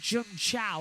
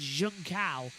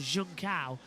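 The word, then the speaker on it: Junção: I have a go at him every year for this, but it's not Jun Chao or whatever it is. It's Junkao. Literally, it's how it's spelled, Junkao.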